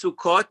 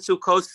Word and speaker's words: Sukkot: Right, so Sukkot and Sukkot is also plural. And what did you say? What's the other word that you use? Sukkos. Sukkos is also plural. They're both plural. They don't contradict. Right. They're just the way that like Yehuda says Ashkenazim, the way they pronounce it. They don't pronounce it tough. Right. They said S like Ashkenaz say Shabbos and you say Shabbat, and it's Sukkot or Sukkos.